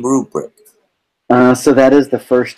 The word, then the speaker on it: RuBrick: So rubric in because it sounds like a grading rubric.